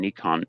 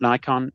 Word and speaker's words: Nikon: with Nikon I have learned that it is pronounced Nikon not Nikon not Nikon as I used to when I lived in Australia but Nikon apparently is the corre correct pronunciation.